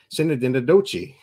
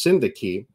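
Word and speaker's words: synecdoche: frame and everything, but it's like Sinadinadochi. We all laughed knowing that was not it, but it was hilarious. It's pronounced Syndaki, and it is a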